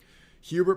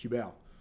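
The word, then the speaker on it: Hublot: Hubert pronunciation is cheap. Hubel pronunciation is expensive. Yeah, obviously I I noticed most people are going to call it Hubert, but the real pronunciation of is Hubel. Hubel. But a lot of people it's tough to do the French accent.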